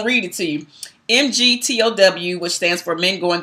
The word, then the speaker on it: MGTOW: So again, we're talking about MGTOW, and that is just the pronunciation of the acronym, Men Going Their Own Way.